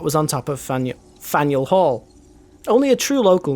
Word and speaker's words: Faneuil: I'm saying it wrong don't let the French spelling confuse you the name of this building is pronounced Fanueil or Faneuil which one Fanueil panel